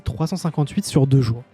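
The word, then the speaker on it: 358/2 Days: Et j'ai vu sur Wikipédia hier qu'en fait, ça se dit 358 sur 2 jours.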